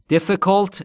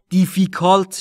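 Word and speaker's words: difficult: سوم شخص اضافه بشه دفکالت یعنی مشکل در مورد تلفظ دفکالت دقت بکنید دیفیکالت نیست عزیزان دفالت ای ها در دفکت د تاش به صورت کوتاه بین ای و ا تلفظ میشه یعنی مشکل این مسئله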